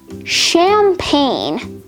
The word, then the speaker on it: champagne: foreign sovereign nat champagne this is actually a homonym with another word also also champagne both of these words have a silent g in it so i thought it